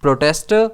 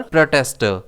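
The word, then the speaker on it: protester: प्रोटेस्टर और प्रोटेस्टर। अगर तो प्रोटेस्टर प्रोनाउंस करते हैं तो स्ट्रेस पी पर रहता है। और अगर हम इसे प्रोनाउंस करते हैं प्रोटेस्टर तो इसमें स्ट्रेस पहले वाले टी पर रहता है।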